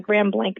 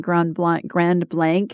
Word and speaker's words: Grand Blanc: McLeod from Grand Blanc, Michigan.